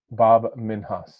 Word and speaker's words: Bob Minhas: section how do you say your name properly Bob minhas welcome to the author to Authority podcast and